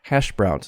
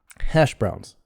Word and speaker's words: hash browns: drugs hash browns so keep your tongue curled up for shh hash browns and of course hash has more stress compound hash browns so hash has more stress than browns hash browns and voiced the s becomes voiced on browns also hash browns can i